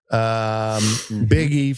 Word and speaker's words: Buege: Biggie for you pronunciation types. That's Buege, Buege, Big E.